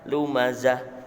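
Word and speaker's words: لمزة: Seperti tulisan lumazatin, ya. Tapi ketika wakaf, tak ini wakaf, maka harus dibaca hak. Jadi contohnya membacanya bagaimana? Lumazah. Asalnya tulisannya lumazatin, tapi kita wakaf dibaca lumazah.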